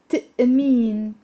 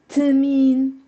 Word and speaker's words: تأمين: سألتني إذا عندي تأمين. تأمين. So it's not تمين. It's there's a تأمين.